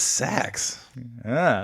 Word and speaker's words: Sax: Well, it's spelled like saxophone, but Oh, okay. I thought it was Daddy Fat Stacks. I've been rapping along to the song ATLians incorrectly this entire time now.